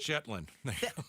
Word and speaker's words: Shetland: got the BBC, uh, a word that I don't want to pronounce wrong because it sounds like a curse. Shetland. Shetland. Like a Shetland pony.